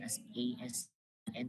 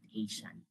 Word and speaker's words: ASEAN: So it's way different from uh that so be confused with that ASEAN is spelled as and is pronounced asan not Asian.